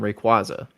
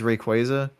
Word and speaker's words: Rayquaza: like who else besides Rayquaza yeah I pronounced that incorrectly the first time I forgot it's like quaza like quazar um but who else